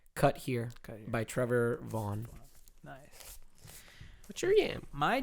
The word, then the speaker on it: Vaughan: Vaughn.